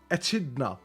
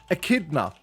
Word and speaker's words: echidna: Oh, it said with a K. akidna.